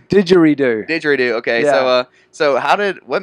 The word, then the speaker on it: didgeridoo: It's didgeridoo.